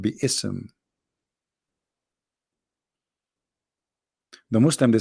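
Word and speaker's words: بسم: Yet Allah he do not know how to pronounce the word Bism. The word Bism became Bism. In Arabic, we don't have bism, we have bi-ism.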